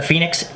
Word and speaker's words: Fenix: battery back of the phoenix now phoenix is about f-e-n-i-x it's not uh your normal phoenix like the bird spelled with a p so this is the